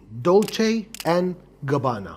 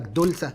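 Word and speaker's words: Dolce & Gabbana: دي ان جي هي اختصار كلمتين، دولتشي ان جابانا. ممكن ناس تقول لك دولسا، دولسي، دولشي ودولس، ما علينا يعني، بس المهم انك تبقى عارف الصح ومخلي جواك.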